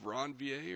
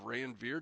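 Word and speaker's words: Ranvier: These are called the nodes of ronvier or nodes of rayver depending on how you want to pronounce it that we've talked about in the previous video on tissue Tuesday.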